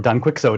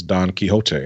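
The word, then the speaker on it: Don Quixote: uh we went donot Don kot or Don quicko if you want to pronounce it incorrectly uh this is considered to be the first modern novel it is Don kote nice job Kate yeah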